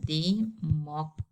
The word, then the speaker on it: democratic: It is said to be de ma cra tick. Okay, now if you count the syllables here, as the rule says, I have to stress the penultimate or the second to last.